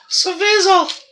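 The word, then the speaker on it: Svozil: Svizel!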